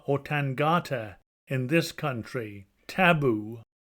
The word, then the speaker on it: taboo: Tangata in this country, taboo, Tafu as here pronounced, and in the other a hog, which had also been made an offering to the divinity.